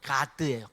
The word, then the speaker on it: 갓: 제가 갓세에게라고 안 하고 갓에게라고 말할 때이 갓대게라고 말하는 이유는 원래 발음은 가드예요. 가드 그러니까 시옷받침이 사실 아니고 디귿 받침이 되어요. 원래 발음으로 따지면 그래서 가데게 제가 이렇게 표현하고 있는 거예요.